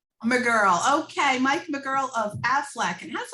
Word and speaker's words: Maegerle: how do you say your last name mike i'm a girl i'm a girl okay mike mcgirl of affleck and that's like was always interesting